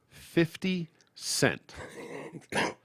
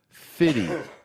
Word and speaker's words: 50 Cent: oh white people okay should always clearly pronounce 50 Cent he's not fitty for you again this